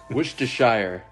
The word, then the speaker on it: Worcestershire: so we say Haverhill hey Worcestershire yeah exactly where did where did the RS go never know none of